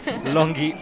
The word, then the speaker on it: Longi: All right, well, from Switzerland, as you can tell, Sarah Longi from Switzerland. Am I pronouncing her second name correctly? Yeah, that's correct.